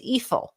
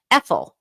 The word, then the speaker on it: EFIL: And then if you write it in reverse, it's EFIL. It almost rhymes with evil. EFIL, E-F-I-L.